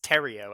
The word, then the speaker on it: Theriot: It's Theriot, actually. Theriot. Yeah. All right. Never would have expected that one. Theriot. Yeah. It's a good old Louisiana last name.